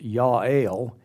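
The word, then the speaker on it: Jael: It's pronounced Yale. In the days of Yale, she is a contemporary of Deborah.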